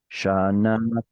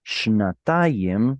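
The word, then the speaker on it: שנתיים: Now, unfortunately, this kamatz over here is too far from the stress, so it's going to drop down to a shva. But the point is, shnatayim is how you say 2 years.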